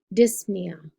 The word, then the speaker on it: dyspnea: it's right underneath plasm the P is silent so it's it's dyspnea or apnea so you'll be thinking